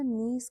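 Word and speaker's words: knees: अब यहाँ पे देखिए जो नीज का स्पेलिंग है, नीज के से शुरू हो रहा है पर के हम बोलते नहीं है। ठीक है, हम लोग के को साइलेंट रखते हैं, चुप रखते हैं, सिर्फ NEES नीज बोलते हैं।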